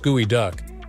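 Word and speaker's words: geoduck: if you've ever seen a geod duck pronounced gooey duck you might have thought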